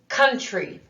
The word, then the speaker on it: country: me now c-o-u-n-t-r-y country did you notice in this word the sound tree the uh sound is spelled with oh you that's an irregular spelling for that sound isn't there isn't that